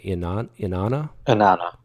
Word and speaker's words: Inanna: The Sumerian goddess, how do you pronounce it? Inanna.